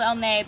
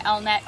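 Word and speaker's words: Elnett: got were the every it's called elet but everyone calls it elnet on YouTube Just because it's easier to pronounce probably less French to pronounce this is the new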